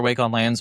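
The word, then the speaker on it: Wake-on-LAN: that will send a wake on lang wake.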